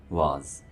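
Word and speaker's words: vase: इसकी सही प्रोनाउंसिएशन है वाज।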